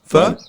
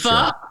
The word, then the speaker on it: pho: Foo? Yeah. Huh? Foo? Foo? What? Fo? Fa? Pho? How do you pronounce it? Ph. Pho?